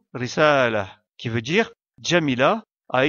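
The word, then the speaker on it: رسالة: Le dernier mot, risala, termine également par la lettre Ta marbuta, mais comme on fait la pause, on la prononce comme la lettre Ha et on délaisse la voyelle qui lui est associée. Risala.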